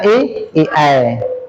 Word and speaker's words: AI: AI ini AI tapi dibaca AI. Itu bahasa Inggris ya. A bacanya I. I bacanya I.